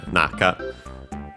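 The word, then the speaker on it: 中: uh during I yeah naka uh still accented on the first syllable.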